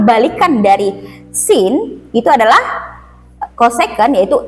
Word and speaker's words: cosec: Nah, ini bacanya cosec atau kalau disingkat tuh CSC x itu sama dengan CSCX cos tang X.